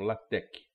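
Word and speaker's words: LaTeX: é chamado de latec esse x final é o que grego né então latec seria a forma correta de se pronunciar é que tem um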